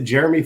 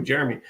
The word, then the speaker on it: Jerome: Is it Jeremy Ford? Is that his name? Yeah. Okay. Yeah. It's spelled like Jerome, but I'm with you, Jeremy.